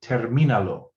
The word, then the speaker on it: termínalo: Finish it would be termínalo. Okay, and notice also we get a written accent on the I because it retains that stress on the I, because we want to say termina.